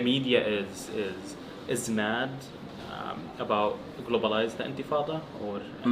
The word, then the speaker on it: intifada: Like now the media is mad about globalized intifada, or they can't even like pronounce it right. Yeah, Like, they say intifada, infitada.